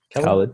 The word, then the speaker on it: Khalid: Do you pronounce it Khalid? Khalid, yep. Yep.